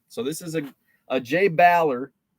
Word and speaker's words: Baller: So this is a Jay Baller. It's actually pronounced Baller, I learned.